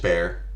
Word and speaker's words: Bexar: I mean, it sounds like it's dangerous just because it's got bears in it. Well, it's But it's spelled Bexar. oh, is that how you? That's San Antonio. Yeah, it's I've Bear.